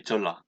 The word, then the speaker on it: Jeolla: Well, if we pronounce Jeon plus La, it will be Jeolla because of the convenient pronunciation.